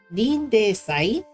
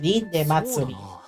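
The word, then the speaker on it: リンデ祭: I think it's リンデ祭 because sometimes it ends with hiragana-ri. I would have pronounced that as リンデ祭り.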